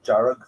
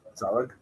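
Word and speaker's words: dearg: They would even pronounce jarug for red. They would maybe pronounce it zarug.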